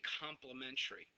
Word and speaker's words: complementary: It's spelled that way, but we say complimentary.